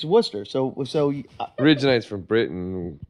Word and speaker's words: Worcester: but if you went to Worcester and said warchester what would they say to you you're saying it wrong yeah it's Worcester so so originates from Britain Worcestershire so so